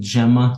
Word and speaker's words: Gemma: So I pronounce it Gemma, not Gamma, because Gemini is definitely Gemini.